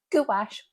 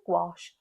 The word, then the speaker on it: gouache: Cambridge English Dictionary says gouache or guache are equally acceptable.